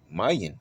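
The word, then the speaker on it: ma'yan: It will be m a i uh y a n if you spell it out. But look at what it has right here. Mayan.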